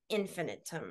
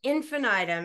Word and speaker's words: infinitum: to asylums we could increase the list add infinum I think is how you pronounce it and isn't well how is it pronounced infinite infinum infinite okay yes infinitum and like here are just all these methods